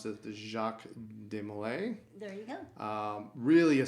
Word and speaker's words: Jacques de Molay: How do you pronounce this? The Jacques de Molay.